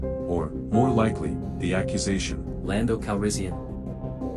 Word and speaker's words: Calrissian: more likely the accusation lando calrissian flatten the first a bit lando answer more bravely than he felt a little more accent on the second syllable of the last name keep trying you'll get